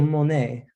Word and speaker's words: Monet: You guys don't quite look like the majority of the population here in Chateau Monet. Oh, so it is Monet. It is when you pronounce it correct. Duly noted. Most people do not.